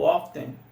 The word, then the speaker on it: often: O often, vamos escutar often, often e often, often, sem o T.